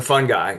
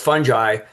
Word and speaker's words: fungi: So I usually remind people no it's fungi and you can pronounce it however you want but the right way pronounce it is fungi as I show there but the definition